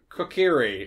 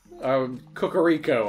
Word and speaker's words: Kokiri: Did I say it right earlier? Kokiri. I always say it wrong. Kokoriko, I think I called it.